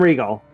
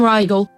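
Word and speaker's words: Riegel: name why is it why is it Sam Regal that's who that uh yeah Sam yeah Sam Ral it's actually Regal I've heard him pronounce it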